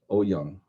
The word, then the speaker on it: Eoyang: Olson, Olson, Olson and Oyoung. Mm. Uh, and then there's Adaptive Action by Oyoung and Holiday. Glenda also mentioned this book, and Glenda's name is spelled Eoyang, Young.